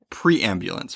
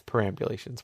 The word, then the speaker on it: perambulations: is pre ulations it's pre amulance right it's before you get in an ambulance okay yeah so this is actually a form of the verb perambulate I might have said it wrong it's perambulations whatever it's to travel